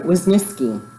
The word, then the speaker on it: Wisniewski: Wisniewski, right?